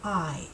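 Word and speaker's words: hay: this is the verb I ha A Y even though it looks like hey it is pronounced I as in I am or I see with my I so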